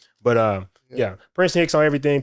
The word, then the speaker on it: Prinston Hicks: It's not spelled like the school, but it's pronounced that way because I know people be like Preston.